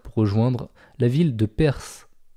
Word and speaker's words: Perth: La ville de Perth, ça s'écrit pas pareil, c'est P-E-R-T-H. Il faudrait dire Perth.